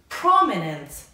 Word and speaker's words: prominent: Prominent. بچه گفتم تو American accent تو درس خیلی قبلتون درسم. وقتی انتی آخر لغت باشه معمولا American speakerها تلفظش نمی کنن. یعنی میگن prominent.